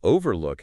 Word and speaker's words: overlook: Refuge has the emphasis on the first syllable reh fight while overlook has the stress on the first syllable of over o over o over